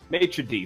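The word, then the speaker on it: maître d': Maitre d', thank you.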